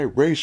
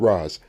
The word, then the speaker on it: Ra's al Ghul: In this story, Batman is actually dead, killed by Ra's al Ghul. And yeah, that's how you pronounce it, Ra's, not Raz.